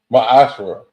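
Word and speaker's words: Maaser: You can find this in numbers 18 and 21 and Malachi 3 8 8-10 chapters 8-10 which means 10th in Hebrew and is not is pronounced maasher 10% of every penny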